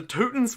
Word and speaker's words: Teutons: Yeah, I feel like the Teutons are a nice off-meta one that people don't play. And I like that it rhymes with Rootin'.